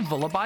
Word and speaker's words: Vullaby: I think I say Vullaby because it sounds like lullaby, right?